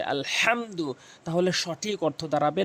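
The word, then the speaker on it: الحمد: জরুরি এখানে সূরা ফাতেহার ওখানে আলহামদু বলে থাকি এই হা উচ্চারণ করে থাকি এখানে ওখানে বড় হা রয়েছে আলহামদু তাহলে সঠিক অর্থ দাঁড়াবে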